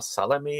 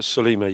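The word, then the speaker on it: Sollima: did he do one with Sergio Salami, if I'm pronouncing his name? Yes, he did. Yeah, with Sergio Solima.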